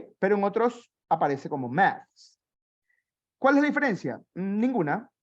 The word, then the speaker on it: math: One is with the TH and the other one is with an S. La que termina con TH, Shira, usted la va a pronunciar como Z, math. La que termina con THS, la va a pronunciar con una ZS, maths, maths.